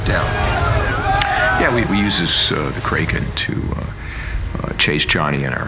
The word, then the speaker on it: Kraken: Kraken's how it's pronounced in the original Scandinavian. But what happened was Kevin McNally was the first character to actually speak the name of it, and he pronounces it Kraken.